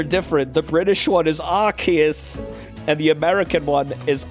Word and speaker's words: Arceus: i'm surprised i am act there's only american pronunciation for this one i want to know how it says arceus no arceus oh that's correct wait oh my god they're having an argument arceus yeah they're different the british one is arceus